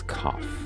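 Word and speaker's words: כ: Fortune and so that the letter associated with the wheel is cough cough is kind of like a like a hard C or a k sound okay and uh let's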